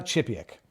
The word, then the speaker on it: Chipiak: Everybody, for those who have never met Eva, it's Chipiak, right? I'm pronouncing. And the first name usually people get wrong, so thank you. You got it right. So Eva. it's not Eva Chipiak. It's Eva Chipiak.